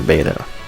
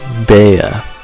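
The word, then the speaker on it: Bea: our gym battle for beta beta that's an unfortunate mispronunciation beya my mistake okay so if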